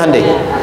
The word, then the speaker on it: Hyundai: Sehingga ketika di sana bikin Honda, sini Hande Hyundai kan dibacanya Hande ya kan? Sana Honda, sini Handai gitu.